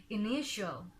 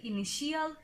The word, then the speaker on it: initial: At first we have INITIAL, যেটার correct প্রোনাউন্সিয়েশনটা হচ্ছে ইনিশিয়াল, ইনিশিয়াল। বাট এটাকে আমরা যদি বলি ইনিশিয়াল তাহলে আমাদের উচ্চারণটা ভুল হয়ে যায়।